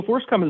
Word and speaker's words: FORSCOM: u.s armed forces command and i you would pronounce that forscom is that correct yeah so forcecom is a governing body over uh different brigades